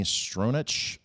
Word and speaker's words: Stronach: Noel Hathaway, Barrett Oliver, Tammy Stronach, I believe is how it's pronounced, Patricia Hayes, Siler Brahman, and we'll go